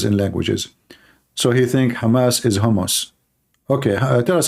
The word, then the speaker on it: Hamas: hamus hamus terrorist Trump he do not know how to say the word Hamas he called him hos he just called Hamas hos Hamas what Hamas okay so